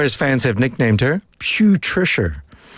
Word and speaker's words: Putricia: Or as fans have nicknamed her, Putricia. Not Patricia. Not Patricia. Putrid, like Putricia. Putricia.